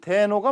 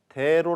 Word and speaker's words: 대로: 바로 하는 현상을 말하는데요 원래는 대 녹아 맞지만 사람들이 어딘가 어색하다는 느낌이 드니까 좀 더 부드러운 소리로 발음 해서 대로 라고 하는 것이지요 물론 우리말 표기도 대로 라고 해야 맞습니다 기쁨과 노여움 과 슬픔과